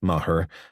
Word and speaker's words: Maher: it had fall into Mahar pronounced mahur to pick up the